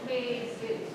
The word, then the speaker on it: Jesus: Manolo and Jesus. You don't pronounce the J.